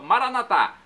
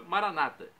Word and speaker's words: Maranata: tônica na última sílaba Maranata ou nossos irmãos separados os evangélicos ou protestantes com a tônica na penúltima sílaba Maranata não importa a pronúncia o significado é o mesmo vinde Senhor Jesus um